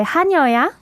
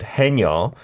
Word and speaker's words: 하녀: We've got to be careful with the pronunciation there because many of you have heard the word 해녀. That's not what we're saying there. It's not a woman diver. It's 하녀, and we'll go into details later.